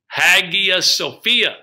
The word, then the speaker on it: Hagia Sophia: Hagia Sophia. I like the name Sophia. It's spelled Hagia.